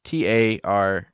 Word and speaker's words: Taraji: Chitari. It's T-A Chitari. Chitari. It's Taraji. P.